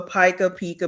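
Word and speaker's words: pica: But anyway, but what um well, it's called well PA, but it's spelled P I CA. That's how it's spelled.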